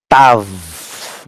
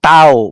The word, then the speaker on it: tav: Sometimes you can pronounce it even as tau, but anything W in Greek, in Hebrew, would be letter V.